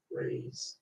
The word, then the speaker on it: res: First word in English can either be said as raise or weeks. Two different pronunciations for it.